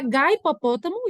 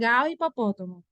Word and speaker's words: hipopótamo: uma prova na escola não a gaipopótamo isso existe gente eu já ouviram falar ai fui ao zoológico e vi um hipopótamo não porque o h na nossa língua ele é mudo na nossa língua portuguesa do Brasil tá ele só tem a